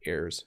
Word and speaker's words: heir: So they are both heirs to the throne. So I thought I would throw that one in there because heir is pronounced the same way as heir. Okay, they're the same pronunciation.